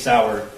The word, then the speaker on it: Sauer: So when he mentions the 6 Sauer, he mispronounced Sauer as Sawyer, which if you purchased that firearm and it was for yourself, you'd be familiar with how to say 6 Sauer.